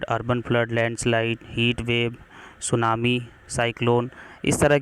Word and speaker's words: सुनामी: Flood, landslide, heat wave, सुनामी, cyclone, इस तरह की चीज़ें यहाँ पर आती हैं। ये छिपा हुआ है, देख सकते हैं यहाँ पे साइक्लोन और सुनामी है, इसमें टी साइलेंट रहता है।